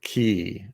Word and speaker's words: Cay: make sense to me there's no e in that word at all is is that how you pronounce a y in Caribbean I guess so I guess that's how they they write it pronounce it I thought you'd pronounce ay hey welcome to the